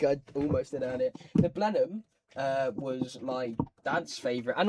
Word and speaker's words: Blenheim: Blenheim.